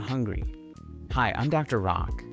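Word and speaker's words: Rak: Rock. That's spelled R A K and pronounced R O C K.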